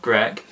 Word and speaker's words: Grech: last fan which says martin gretch pronounced greg is an english singer